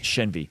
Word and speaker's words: Shenvi: Shenvi.